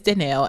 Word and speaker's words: Dannelle: I've said before, like, if they say it wrong, they're introducing me, like you said, follow up, like, yes, I'm Dannelle, and I, you know, like I just say it the correct way again.